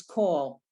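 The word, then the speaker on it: כל: line four oh co so that word we're always going to pronounce call that's just one of those irregular words we're always going to say call okay that's just the way that word is call means all right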